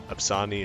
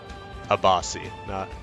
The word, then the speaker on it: Abasi: And of course, seeing some of the music videos for this, like Monomyth and Absani, is that how you pronounce his name? Hold on, I'm gonna look that up real quick. Abasi, that's it.